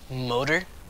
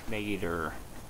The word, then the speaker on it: Moeder: Motor? Nope. Not motor? It's pronounced. Mater.